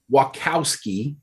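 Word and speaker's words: Wachowski: when lana thank god you said it right wackowski which is a harder name yeah uh she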